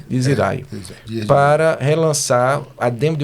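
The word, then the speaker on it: Dies Irae: Recentemente foram convidados pelo selo Diz Irae, né? A pronúncia é em latim, se eu não me engano. Diz Irae.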